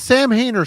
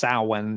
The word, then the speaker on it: Samhain: gothic Vibe this is Sam hayner Salin I technically do believe it's pronounced salwan if you're using like the actual Gaelic pronunciation but uh this is